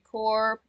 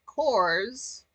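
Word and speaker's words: Corps: such as the Marine Core its spelling does not change in the singular or plural pronounced core when singular and cores uh I like k o r z when plural core can be a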